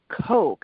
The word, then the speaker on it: Koch: She pronounces her last name Coke, actually, which we Coke. found out way later. We always called her in our head Jeanne Koch, so we always try to correct ourselves.